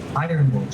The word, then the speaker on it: Yronwode: Ironwood, she actually pronounces it.